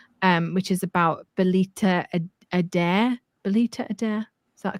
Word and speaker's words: Belita Adair: Belita Adair? Is that a correct pronunciation?